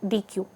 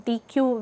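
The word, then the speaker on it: deque: because DQ is this DQ is exactly pronounced as the deletion uh operation in a q which is d uh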